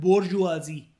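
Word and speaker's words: bourgeoisie: इसको प्रोनाउंस करते हैं अंकिता, इसको बोलते हैं बोर्जुआजी। क्या बोलते हैं? बोर्जुआजी। मतलब एस को जेड बोलते हैं, ठीक है? ये जो एस लिखा है ना, बोर्जुआजी, सी नहीं, बोर्जुआजी।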